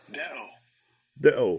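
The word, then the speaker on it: δέω: Let me get it pronounce that real quick. This word. Strong's G 1210. Deo.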